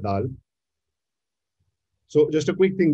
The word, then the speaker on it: Dhall: That day I was going through a talk and someone was pronouncing it as D-Hall. So it's not D-Hall, it's not Dhall, it's not Dhall, it's Dhall, Dhall Roti, Dhall.